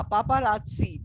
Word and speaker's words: paparazzi: पापा पापारात्सी, पापा, not Paparazzi.